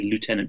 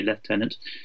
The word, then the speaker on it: Lieutenant: One has to say Lieutenant General in the American pronunciation for him, although we would otherwise say Lieutenant.